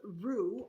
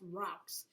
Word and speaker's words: roux: to make something called Rue R O uux I know it looks like it should be pronounced rocks but it's a French word and you know their